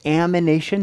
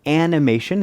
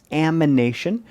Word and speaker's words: amination: you start with now notice this is reductive amination not animation it's going to be difficult to say and i guarantee you're going to say it wrong at least once but it's not animation it's amination so uh and we'll